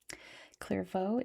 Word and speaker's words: Clervaux: Clervo is its French name and apparently it's English language name too.